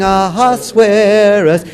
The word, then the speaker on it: Ahasuerus: The funny thing about this is this rhyme of scare us only works if you pronounce it as king in the English, Ahasuerus.